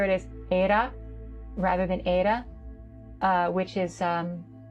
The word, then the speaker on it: Ada: With my accent, I pronounce it as Ada, which, yes, you might notice is neither a D nor a T sound. It is an alveolar tap, which is very similar to the Japanese R.